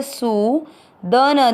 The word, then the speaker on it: सूदन: सु की मात्रा बड़ी, लंबा खींचना है सु। द न दोनों अक्षर पूरी, दोनों में आ मिक्स करना है सूदन।